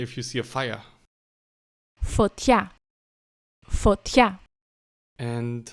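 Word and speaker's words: φωτιά: Foťța.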